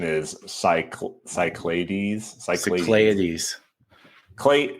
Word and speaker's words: Cyclades: Yeah, that's probably like the proper Greek pronunciation is cycl cyclades.